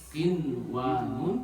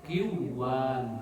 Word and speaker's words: قنوان: Yang jadi contoh kinwan, maka cara bacanya izhar. Kinwanun tidak boleh dibaca kiwan, ya.